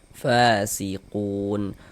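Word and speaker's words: فاسقون: Fasiquun. Qun dibaca panjang.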